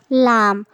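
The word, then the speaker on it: لام: বন্ধুরা, এই হরফটির নাম হলো লাম। কি নাম বন্ধুরা? জিহ্বার আগার কিনারা সামনের উপরের দাঁতের গোড়ার সাথে লাগিয়ে আমরা উচ্চারণ করব।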